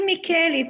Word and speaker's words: Micheli: Is it Micheli or Micheli? It is Micheli.